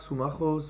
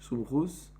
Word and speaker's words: Sumachos: Dachak Sumachos Venichnas. Donc l'un des élèves de Rabbi Meir, qui s'appelait Sumachos, ou dans la prononciation yeshivish Sumchus.